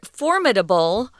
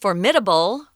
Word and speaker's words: formidable: the next generation now this word formidable or it could be pronounced formidable they're both correct it just means kind